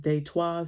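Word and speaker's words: Détroit: Um, also I would like to say uh the name Detroit is really pronounced as Dayto.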